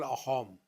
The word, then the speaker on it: Assam: In Assam, Sa is pronounced as Ha. We call Assam, they call Ahom.